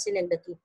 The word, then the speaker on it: synecdoche: इट इज सिनेकडकी, बट आई am used to saying it's called it सिनेकडॉक, सो I will better use that. Actually it's pronunciation is सिनेकडकी. यू can Google it.